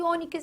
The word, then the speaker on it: ônix: Veja que ônix possui a tonicidade aqui nesta sílaba, ó. Aí você tem última, a penúltima. sendo esta a sílaba tônica, você considera essa palavra então uma o quê? Paroxítona.